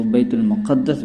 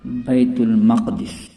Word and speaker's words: بیت المقدس: ہے گڑھا یا کنواں۔ دوسرا لفظ دوستو جو عوام میں غلط تلفظ کے ساتھ مشہور ہے وہ ہے بیت المقدس۔ عام طور پر لوگ اس کو بیت المقدس بولتے ہیں، جبکہ اس